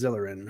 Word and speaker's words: Zeleryn: Am I pronouncing that right? Yep, it is Zelerin.